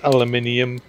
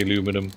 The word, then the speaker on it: aluminium: and to American friends yes it is aluminium in this game not aluminum and I know Americans say aluminum but there's a reason for